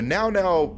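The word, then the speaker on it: Mnggal-Mnggal: of projection, but the Now gives me real Lovecraft vibes. It's very Lovecraftian and eldritch. Like, even the name, like, it looks like Mngall-Mngall, but it's pronounced like Now.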